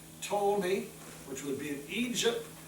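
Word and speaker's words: Ptolemy: uh a horn named told me the p is silent told me which would be in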